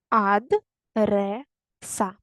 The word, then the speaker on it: адреса: на паузу потім перевіряємо перевіряємо ад реса такі склади адреса на другий склад падає наголос перевірте будь ласка тепер